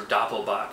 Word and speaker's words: Doppelbock: uh double box or Doppel boach as it's pronounced in German this is the ainger